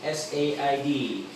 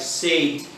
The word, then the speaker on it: said: tense number three s-a-i-d s-a-i-d said said some uh people pronounce it more like sate but i pronounce it more like said not sad but said what is